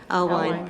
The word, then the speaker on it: Alwine: I don't know how to pronounce it. Alwine, thank you, Advocacy Award.